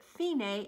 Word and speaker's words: fine: It says fine, but you pronounce it fine, and that means the end.